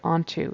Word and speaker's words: onto: hold on to he he doesn't quite say onto it should be onto onto we definitely pronounce both syllables onto comma and give her